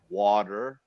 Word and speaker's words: water: lot of the te so like a word like water we say water it's all a who says water all real quick I'm gonna make John big so he can actually say water right they pronounce the hard tea in water huh Americans start dropping